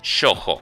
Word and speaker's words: shōjo: a empezar con definiciones sojo que es así que se escribe y se produce a su ojo con una o larga cuando hablamos de géneros